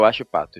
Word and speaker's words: Huachipato: para mim, o Huachipato, é assim que se pronuncia? Huachipato. Não é problema. É o Huachipato, isso mesmo.